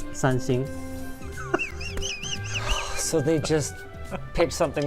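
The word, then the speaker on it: 三星: So in a way, yes, because the Chinese pronunciation of Samsung is Sanxing.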